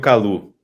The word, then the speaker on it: Callou: Calu, Calau, Cayou, ¿cómo es la mejor forma de pronunciar tu apellido? Como quieras, pero yo particularmente pronuncio Calu.